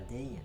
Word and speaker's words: Dei: par exemple quand vous voyez comme là Dei, c'est pas Dei en fait, c'est Dei. En fait tout se prononce dans l'italien.